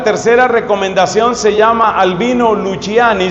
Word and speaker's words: Luciani: Entonces, la tercera recomendación se llama Albino Luciani. Se escribe Luciani o Luchani, dicen otros.